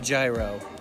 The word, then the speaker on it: gyro: They say it like euro, and I kept thinking people were talking about euros all day long, like the money.